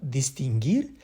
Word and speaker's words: distinguir: J'insiste sur la sonorité ouir parce que par exemple, distinguir, ça finit aussi par UIR, mais ça se prononce gir et pas ouir.